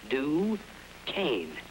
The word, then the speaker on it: Duquesne: i'll have a duquesne pardon me sir it's pronounced duquesne do cane now try it dark